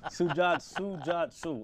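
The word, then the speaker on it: Sujato: Sujatu. All right, Sujatu, three syllables.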